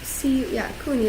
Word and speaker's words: CUNY: CUNY, that's how you say it.